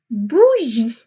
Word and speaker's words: bougie: Le mot d'après, bougie. Bougie. Attention, la bougie à la fin, une lettre que l'on n'entend pas.